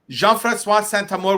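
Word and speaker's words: Jean-François Saint-Amour: Wow yeah amazing all right you were born jean-francois santa more was that always your full name always been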